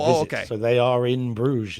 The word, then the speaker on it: Bruges: In Bruges. Yeah, in Bruges? Yeah, okay. Yeah. What does that mean? It's Bruges is the name of the place. Okay. So they are in Bruges.